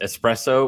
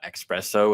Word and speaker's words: espresso: other day that it's it is espresso with an S and not espresso with an X definitely a full life